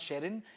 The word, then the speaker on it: Sherrin: So Shari ka beta Sherry became, and Shekhar Bhai could never pronounce Sherrin. He always went Shirin, Sharon, Sharon.